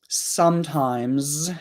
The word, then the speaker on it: sometimes: comments right now so sometimes has an S on the end if we pronounce it very clearly the final s might sound like more like a z but in conversation we